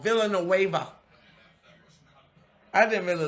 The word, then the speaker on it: Villanueva: Villanova. Alejandro. Villanueva. I said it wrong. Villanueva.